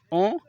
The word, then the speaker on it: aux: That's why we can see here that O is ending in an X, and that X is not pronounced unless the following word is starting with a vowel.